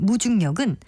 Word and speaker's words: 무중력: 하지만 이와는 다르게 마치 중력이 없는 것처럼 느끼는 현상을 뜻하는 무중력은 무중력이라고 중을 길게 발음하지 않고 무중력 이렇게 짧게 발음합니다.